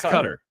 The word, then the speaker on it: Qatar: says john's pronouncing it cutter is very cringy i understand that it's closer to how it's pronounced locally but oof that's how it's pronounced that's how it's pronounced cutter right it's cutter you're saying it correctly